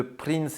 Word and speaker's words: Prince: C'est de là le nom de Prince et pas Prince comme on le prononce en français.